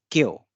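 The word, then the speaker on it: 今日: So this together this represents this day or today, and it is pronounced as kyo, which is today.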